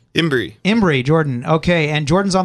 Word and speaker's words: Imbrey: Imbrey, Jordan.